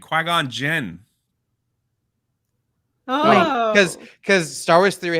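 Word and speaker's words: Qui-Gon Jinn: his name right now say qui-gon say his name qui-gon jim jin jin that's what i said you're saying jim i don't know that's my accent qui-gon jin cause cause star wars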